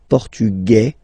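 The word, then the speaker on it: portugais: the feminine form okay masculine portugu you don't pronounce the s feminine formug you pronounce this z sound Okay.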